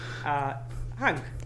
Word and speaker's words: Hung: But I want to say it properly, so it's Hung still. It's an Asian Vietnamese name, as you mentioned before.